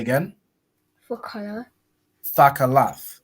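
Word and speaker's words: תכלת: Thakalath, right?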